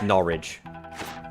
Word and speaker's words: Norwich: Which is not how it's said. It's Norwich. Like porridge. Every person from Norwich says it like porridge.